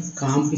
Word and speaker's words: calm: यहाँ देखिए LM में काम से काम पढ़ते हैं, और DG में लॉज में से ज पढ़ते हैं।